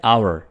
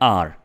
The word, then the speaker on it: our: हमारा, हमारा की इंग्लिश है आवर। इसको नॉर्मली लोग बोलते हैं आर, जो कि बिल्कुल गलत प्रोनाउंसिएशन है, ठीक है। आपने इसको क्या बोलना है? आवर, आवर।